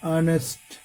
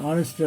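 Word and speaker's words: honest: তদ্রূপ কতগুলো শব্দ রয়েছে যেগুলো কনসোনান্ট দ্বারা শুরু হয়েছে বানানে কিন্তু উচ্চারণ হচ্ছে স্বরবর্ণের ন্যায়, অর্থাৎ ভাওয়েল উচ্চারণ, আটার্ড vowel. He ইজ অ্যান অনেস্ট doctor, তিনি একজন সৎ চিকিৎসক।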